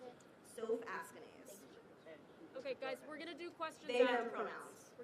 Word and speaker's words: Soph Askanase: And can you pronounce it? Soph Askanase.